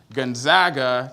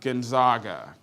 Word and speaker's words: Gonzaga: and yes for all you southern folks is pronounced Gonzaga not Gonzaga good yeah so Gonzaga was a magical experience for me I really